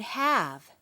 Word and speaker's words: have: The first word on list two is the word have. If you look at the picture card, you'll see that the e is crossed out. That's because we don't pronounce this sound.